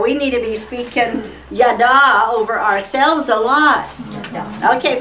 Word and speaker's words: yada: Because you got your accent on the last part. Yada.